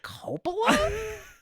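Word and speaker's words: Coppola: directed by Francis Ford cop directed by Francis Ford Copa is the correct way to say that that's right Justice yeah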